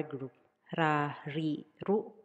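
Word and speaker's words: ル: Katakana ru, pronounced as ru, ru, ru.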